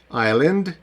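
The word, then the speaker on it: island: стоїть перед ЕО вона в цих словах не читається наприклад айл бачите Айленд ще одне iell І ще Айленд у нас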